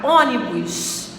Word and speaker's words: ônibus: então essa palavra é paroxítona agora a palavra ônibus ônibus ônibus ônibus ônibus o ônibus ela é